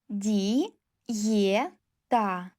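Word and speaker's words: диета: Kle Di ye ta. Diyeta. Ye plus e cuz after another vowel, vowel i.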